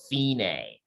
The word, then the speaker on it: fine: and play to the finay so we we pronounce it fee like you're paying a fee and then nay kind of like a horse sophinae buffinae means the